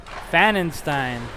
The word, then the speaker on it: Fannenstein: Number 10 on Prior Lake is pronounced Ben Fannenstein. And they also say go Lakers, so thanks for sending that message in, and we'll get that right for number 10 on Prior Lake. Oh, Fannenstein, okay. I think I had pronounced it Fannenstein.